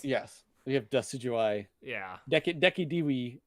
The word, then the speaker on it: Decidueye: Deki Dewey is what I've heard people pronounce it as. Wow. It's like a U pronunciation.